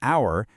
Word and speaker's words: hour: So it's an hour because that h is totally silent.